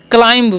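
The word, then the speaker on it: climb: लोग को ठीक है बी जो है यहां पर साइलेंट होता है इस बात का आपको ध्यान रखना है क्या पढ़ना है क्लाइम पढ़ना है ओके बी साइलेंस होता है अब देखिए क्लाइम मतलब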